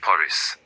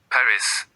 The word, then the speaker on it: Paris: So Paris is not Paris. It's par. The S is gone.